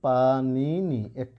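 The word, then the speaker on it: পাণিনি: যেমন তোমাদের একটা শব্দ দেখায়, এই যে দেখো পানিনি, একজন বৈয়াকরণিকের নাম। ঠিক আছে? মূর্ধন্য নয় রস্যই, দন্ত নয় রস্যই, তো এটার উচ্চারণ কিন্তু পানি নি।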